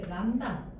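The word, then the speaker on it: λ: 화장 파장이라고 하고 교재에도 나오네이 람다 람다라고 읽어요. 그리스의 문제예요.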